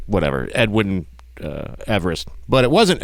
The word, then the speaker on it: Everest: like whatever edwin uh everest but it wasn't everest the actual pronunciation of his name is eve rest so we've been saying